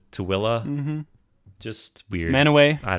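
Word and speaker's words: Tooele: it's spelled hurricane and tul but you pronounce it toilla mhm just weird manway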